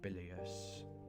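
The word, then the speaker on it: bilious: don't mind me okay with the stressor on the first syllable bilius nor was it that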